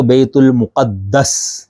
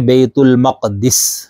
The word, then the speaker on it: بیت المقدس: ہیں، اردو میں بھی۔ ایک تو بیت المقدس، قاف دال کے اوپر شد کے ساتھ، ٹھیک ہے، اور ایک ہے بیت المقدس۔ یہ دونوں تلفظ یا دونوں طرح سے اس کا پڑھنا بالکل درست ہے۔ تو یہاں پر سوال